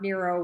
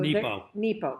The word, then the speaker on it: Nepo: Mark Nero was fighting cancer when he wrote this. And it's beautiful. So Nepo.